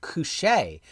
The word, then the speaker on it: Koshchei: And FYI, Koshchei is pronounced Koshchei, at least according to a past Ukrainian girlfriend. Koshchei, well, I can remember that because it reminds me with Koshchei you say, like Shantae you say.